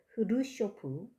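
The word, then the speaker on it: 흐루쇼프: 카카스라는 지방의 가정에서 태어나서 스탈린 그리고 흐르쇼프 발음이 흐르쇼프 이런 그 공포정치, 반동정치 이런 시대에 정치적인 억압을 받던 사람입니다.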